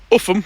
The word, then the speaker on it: Upham: Upham, but it's spelled very differently to the way it's said.